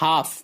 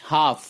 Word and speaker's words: half: HALF half L silent half نصف آدھا.